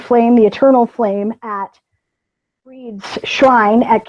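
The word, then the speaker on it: Brigid: It's actually Breed, but everybody knows it as Bridget because that's how it's spelled. Celtic spelling was created solely to confuse English-speaking people.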